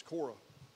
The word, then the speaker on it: Korah: Now, I spell it a little different because the Old Testament spells Korah, K-O-R-A. The New Testament, there in Jude, spells it C-R-E, like Kor, but it's Korah.